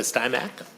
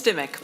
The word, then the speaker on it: Stimac: And Stymack? Yes, thank you, Did I Chair. pronounce that right? It's Stimac, but Stimac, I answered okay.